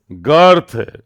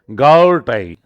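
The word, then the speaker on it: Goethe: Major figures included young Johan, अब देखो, वॉल्फगांग वॉन गाउथ, इसको प्रोनाउंस करते हैं गर्थ, गर्थ, अर का साउंड आएगा, गर्थ, गर्थ। आप भले गोथी पढ़ लो, कोई बात नहीं, हमें याद होना चाहिए।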